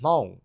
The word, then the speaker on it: Hmong: and I am Hong which is spelled h-m-o-n-g Hmong people are basically